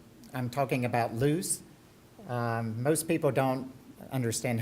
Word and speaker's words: Ljus: technology and as patrick said I'm talking about loose most people don't understand how to pronounce it loose is actually Swedish for lighting